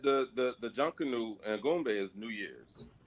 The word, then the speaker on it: Junkanoo: Right, it's Junkanoo.